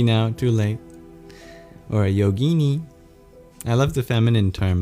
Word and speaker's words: yogini: Or a yogini. I love the feminine term of yogi. Yogini rhymes with Houdini.